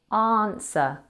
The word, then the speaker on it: answer: Answer has a silent W. Say it with me. Answer.